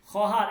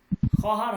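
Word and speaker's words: خواهر: খহার এখানে ও এর উচ্চারণ হবে না। ও এর উচ্চারণ সাইলেন্ট থাকবে। হ্যা ওর উচ্চারণ হবে না। লেখাতে আসবে কিন্তু উচ্চারণ হবে না। খহার হবে বোন।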